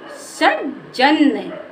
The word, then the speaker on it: सज्जन: हमारा आधा है तो इसको कैसे पढ़ेंगे सजन यानी कि हम हमें इस जा को बोलने में ज्यादा समय नहीं लगाना है और आ का आ साउंड का उच्चारण भी नहीं करना है तो इसको बोलेंगे सज्जन सज्जन हमारा हो गया